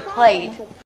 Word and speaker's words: plate: the stop T at the end makes the long a a little shorter let's listen again play play soccer Play and play play it's shorter I'm just gonna go get a plate do I get a